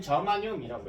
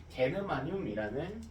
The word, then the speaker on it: 저마늄: 자, G는 저마늄이라고 읽고 우리 일상생활에서는 보통 게르마늄이라는 용어로 많이 알려져 있습니다.